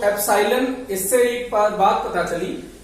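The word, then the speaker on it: epsilon: Spelling देख लीजिए, इसको इंग्लिश में प्रोनाउंसिएशन एप्सिलॉन है, इसका इंग्लिश में प्रोनाउंसिएशन है एप्सिलॉन।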